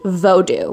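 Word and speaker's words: Vodou: about something called Hoodoo voodoo actually pronounced vodo and I believe there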